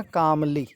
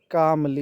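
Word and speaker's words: calmly: एल वाई का उच्चारण कामली ठीक है य मैं लिख देता हूं कामली इसमें एल साइलेंट है ठीक है इसको देख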